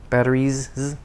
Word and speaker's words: batteries: stop vibrating c batteries batteries because battery e voiced vowel sound batteries the s becomes voiced into a z sound seven i need a